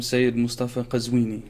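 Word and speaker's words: Sayed Moustafa Qazwini: Oh, first of all, pronounce it for me. Sure. Imam Saeed Mustafa Qazwini.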